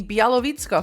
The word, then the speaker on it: Białowieża: The Białowieża forest, it's Europe's only remaining primeval woodland, just a fraction of the forest that once covered the entire continent.